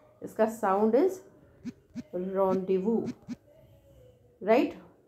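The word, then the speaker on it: rendez-vous: And last is very surprising to you, sound is that's a रोंडेवू, रोंडेवू। ये रनडेज, run days वज, पर रनडेज वज नहीं है ये, इसका साउंड इज रोंडेवू, राइट।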